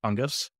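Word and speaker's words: Tunguz: but he left Thomas I think the name is pronounced tungus okay he just posted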